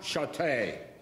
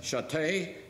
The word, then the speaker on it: Chateau: my name is chateau it's french have you ever had your name mispronounced well that happened to me a lot somehow when i said satay people heard stay so they automatically became